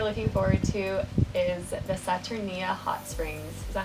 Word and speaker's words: Saturnia: thing that we're looking forward to is the saturnia hot springs is that how you say it